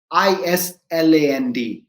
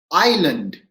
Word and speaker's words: island: i s l e why is s silent in island right australia is a big island not island australia is